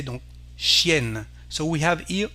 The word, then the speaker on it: chienne: Here we have the sound N, chienne, the female name for dog, we say, donc chienne.